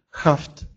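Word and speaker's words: haft: Тогда он произносится как «х». Например, «хафт», «хафт», «вышивка».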